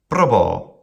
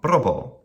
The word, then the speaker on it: probo: Probo, short, long, probo. The incorrect pronunciation would be something like probo, or even making it a trochee, probo. Not a classical Latin pronunciation.